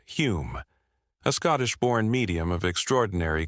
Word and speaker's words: Home: One of the most notable was Daniel Douglas Holm, pronounced Hume, a Scottish-born medium of extraordinary charisma and talent.